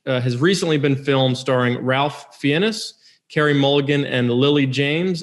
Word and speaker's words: Ralph Fiennes: You both mispronounced it. It's okay. Ralph Fiennes.